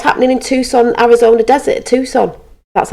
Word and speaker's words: Tucson: last year what's happening in Tucson Arizona desert Tucson that's how you say it what he's found